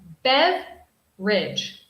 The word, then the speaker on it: beverage: number one this pronunciation this pronunciation has a dropped syllable dropped syllable in English so we don't say beverage beverage we say Bev Ridge beverage so this means